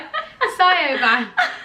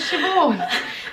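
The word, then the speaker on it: Siobhan: used to be like i used to spell it literally what it looked like a sigh over but really it was shivore but the one that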